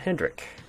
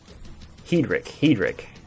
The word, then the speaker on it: Hedrick: Matt Hendrick. Right. Hedrick. Hedrick? Hedrick. I think it's actually how you say it.